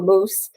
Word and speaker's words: Mouse: to record to a mouse the um poem by Robbie Burns and they pronounce it to a moose um I got them